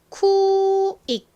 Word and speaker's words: quick: 원래는 크 소리가 나는데 이렇게 끝에 쓰이면 약하게 소리 나서 받침처럼 표기를 한다라고 말씀드렸죠. 자, 발음해 보겠습니다. quick 빠르게 quick quick 좋습니다.